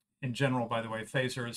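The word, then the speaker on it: Feser: Fazer for recommending it. And in general, by the way, Fazer is spelled F-E-S-E-R, and I'd recommend him to you.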